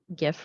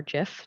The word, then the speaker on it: GIF: So I mentioned the D&B Risk Analytics, and here's just a quick GIF, really, or GIF, depending on how you like to pronounce it, of what that interface looks like.